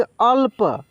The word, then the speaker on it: अल्प: जैसे यहाँ पे देखिए, इसको पढ़ेंगे अल्प। देखिए आधा ल है तो ल को इतना तेज़ी में बोलेंगे कि इसमें कोई मात्रा का उच्चारण नहीं होगा, अल्प अल्प, ठीक है।